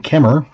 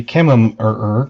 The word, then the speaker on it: Kemmerer: I was born in Kemmer. Now, if you've ever seen it, most people say Kemmerer because it's Kemmerer. But one M is silent and the other ER is silent.